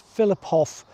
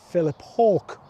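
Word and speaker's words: Philiphaugh: And uh the Jordis would pronounce this as Filipof, but the local people here call it Philip Hawk.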